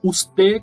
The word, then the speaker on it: usted: Então veja que eu não pronunciei esse D bem forte, né? Bem pronunciado. Eu pronunciei ele de uma forma bem suave, como se eu fosse falar e parasse no meio do caminho, tá? Então é usted.